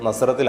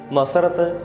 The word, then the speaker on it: നസ്രത്ത്: തവണയും പുതിയ നിയമത്തിൽ പ്രത്യക്ഷപ്പെടുന്നുണ്ട് പേരിന്റെ ഉച്ചാരണത്തിൽ ചില വ്യത്യാസങ്ങൾ കാണും നസറേത്ത് എന്നാണ് ഗ്രീക്കിൽ ഇതുതന്നെയാണ് ഹീബ്രുവിലും എന്നാൽ സുറിയാനിയിൽ നസ്രത്ത് എന്നാണ് എഴുതുക ഇതിൽ നിന്നാണ് നമുക്ക് സുപരിചിതമായ നസ്രത്ത് എന്ന ഉച്ചാരണത്തിന്റെ ഉത്ഭവം ശാഖ എന്നർത്ഥമുള്ള നേസർ എന്ന